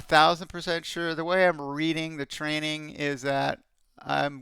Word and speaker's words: Reading: here that's what I'd like to know it's pronounced reading by the way actually oh I the funny